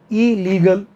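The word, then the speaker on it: illegal: ध्यान रखना double L आते हैं, बट पहले वाला जो एल होता है ना वो साइलेंट हो जाता है आवाज़ करने में, तो इसको इलीगल नहीं बोलेंगे, लोग बोलते हैं इलीगल, नहीं, ई पहले वाला एल बोलेगा ही नहीं, ई लीगल, ई लॉजिकल, ई लेजिबल, अपठनीय, वन वर्ड में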